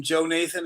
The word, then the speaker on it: Jonathan: It's spelled Jonathan Allen, but we always called him Joe Nathan Allen.